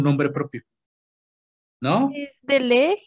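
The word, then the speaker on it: Legg: Es de Leg y Peters y así. Es la enfermedad de Leg. Se escribe como pierna en inglés, pero con dos Gs. L-E-G-G.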